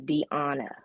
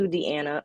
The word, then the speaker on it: Deana: is your correct pronouncement the current pronunciation of my name is Diana okay um I answer to Deanna only because my grandmother called me Deanna okay and she you